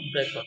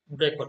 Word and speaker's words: Brecht: হি is known professionally as বেরটোল্ড ব্রেখাট। কিন্তু ওনার নামটা কিন্তু চেঞ্জ হয়ে যায়, ওনার নামটা একটু ভিন্ন হয়, নামটা হয়ে যায় কি বেরটোল্ড ব্রেখাট। এভাবে ওনাকে উচ্চারণ করা হয় ওনার নাম।